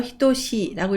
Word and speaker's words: 等しい: 그리고 하나만 읽을 때는 다이라라고 읽고 평평함을 나타냅니다. 네 번째 한자는 무리 등자입니다. 등급을 나타낼 때 도규라고 하고요. 형용사로 히토시라고 읽으면 같다, 마찬가지이다 라는 뜻을 나타냅니다.